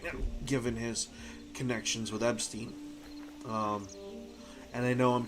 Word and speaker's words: Epstein: Uh, it's EP as in EP. Stein, not EB as an Eb. I've been pronouncing it eB.